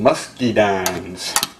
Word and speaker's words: muscadine: makes me think about the way locals pronounce the name of this this line they call them musky dines and uh they can